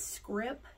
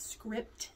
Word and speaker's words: scrip: I always have to tell my students it's script not script it's SC r i p so it's not